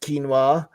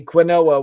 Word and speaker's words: quinoa: Alta Scott says, I'm making a Mediterranean salad this week with quinoa, pronounced quinoa, and Kalamata. Well, he's right. A lot of people don't know how to pronounce that. I heard someone say quinoa once.